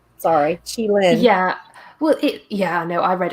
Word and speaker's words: qilin: So let's look at my notes on the Chilean, which I hope I've not butchered too horrifically. But yeah, so the Chilean are not technically unicorns, but that's primarily because the name. Sorry, Chilin.